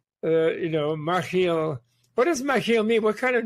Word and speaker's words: Machiel: well you pronounce it it's a dutch name it has a jewish